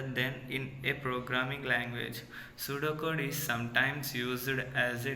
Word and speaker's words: pseudocode: C from different between pseudocode and source code. First, we know about pseudocode. What is meant by pseudocode? Pseudocode, pronounced as su, DOH do, and KOHD code, is a detailed yet